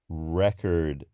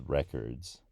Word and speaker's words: record: one where when we talking about a record as in I have a lot of jazz records that's record that's the noun but the verb is re-'cord and I've never heard